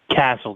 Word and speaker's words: Casscles: And your last name is Casscles? Casscles. That's how it's pronounced.